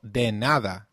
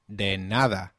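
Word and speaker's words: de nada: how about trying you're welcome it is called deada did you get that right deada let's see if you remember nice to meet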